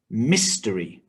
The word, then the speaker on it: mystery: Mystery. 3 syllables, stress on the first syllable.